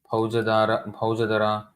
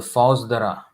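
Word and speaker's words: Faujdar: Now here you will see some words: jamidaras, Bhaujadara. Actually, this is not how it is pronounced. The Fauzdara or city magistrate was called the, here it says Kaji.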